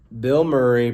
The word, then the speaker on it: Bilmuri: Bill Murray pronounced exactly like the actor Bill Murray wasn't sure about that